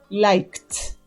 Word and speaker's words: liked: sorda también no vibra la garganta en pasado liked liked repitan conmigo liked que es el verbo